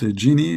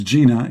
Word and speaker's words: genie: it to Export Import genie you know call 1-800 Dini okay remember you know you have to pronounce the word genie correctly that don't don't think it's Gina you know you will